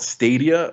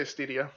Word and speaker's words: Stadia: streaming uh service called stadia stadia how do you pronounce it I say stedia stedia okay so stedia